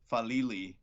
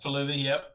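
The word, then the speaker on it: Faalele: I mean, the one thing too, and there's that other guy that keeps going out there, Daniel Falili, I think is how he pronounces his last name. Yeah, Falili, yep.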